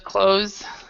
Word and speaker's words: clothes: the the on the clothes closet door and you can both this word the clothes right here and this are pronounced the same in american english i closed the clothes